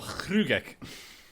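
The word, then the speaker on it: Hruggek: Would you do the pronunciation? Heart of Hrugek.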